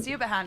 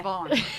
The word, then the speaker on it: Siobhan: Siabahan is Oh, yeah. Siobhan.